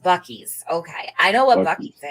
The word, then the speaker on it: Buc-ee's: It's pronounced Buc-ee's.